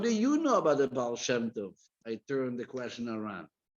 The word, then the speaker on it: Baal Shem Tov: Took him a little while to pronounce the word Baal Shem Tov properly. Baal Shem Tov.